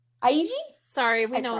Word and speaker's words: Eiji: was our episode about machida keda and akaso aji aiji sorry we know it's our pronunciation is terrible i'm sorry i'm sorry i